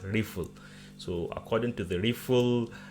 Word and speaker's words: RPL: to the rpl rifle it's pronounced rifle not rpo the actually the name is rpl rplp it is pronounced rifle so according to the